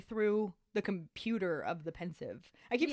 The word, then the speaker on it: Pensieve: mean first of all pensive um I looked it up the author explains that it is a homonym for the word pensive to mean like thoughtful right um makes sense